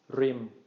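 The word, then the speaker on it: ริม: So this is going to be pronounced as a short mid-tone, rim, rim, rim.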